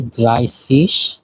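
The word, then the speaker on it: dreißig: কে বলা হয় সসি 30 কে বলা হয় ড্রাইসিস।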